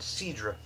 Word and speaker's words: Cidre: Stella Artois logo there and cedra if you want to use the French pronunciation I wanted to cover